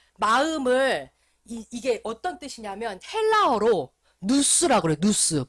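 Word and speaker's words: νοῦς: 마음을 이게 어떤 뜻이냐면 헬라어로 누스라 그래.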